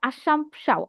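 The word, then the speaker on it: Assumpção: তার নাম হচ্ছে মানুয়েলদা আশামশাও আশমশাও হ্যা উচ্চারণটা এরকম আশমশাও তার রচিত পর্তুগিজ ভাষার শব্দকোষ ছিল।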